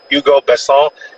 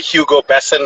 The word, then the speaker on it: Hugo Besson: and more, but it's Hugo BESSON. We would say Hugo Besson. That's another way to pronounce it, but in French, they pronounce it Hugo BESSON.